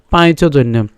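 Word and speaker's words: পাঞ্চজন্যং: উচ্চারণ করি পাঞ্চ হয়, কিন্তু আমরা যদি সংস্কৃত উচ্চারণ করি তাহলে আমরা ভেঙে বললে হবে কি পাঁচ।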